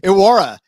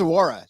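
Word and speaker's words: Iworah: of came in and pronounced his name wrong aurora uh prince charles awara like that guy i think he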